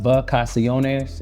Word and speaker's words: Vacaciones: That is pronounced Vacaciones. It's Spanish for vacation.